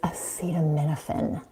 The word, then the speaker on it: acetaminophen: And one more thing, it's acetaminophen.